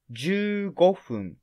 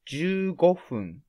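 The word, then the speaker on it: 十五分: triangle number for example 15 minutes is ju gofun because triangle number is five i mean go and then it's fun type so 15 minutes is ju gofun ju gofun in other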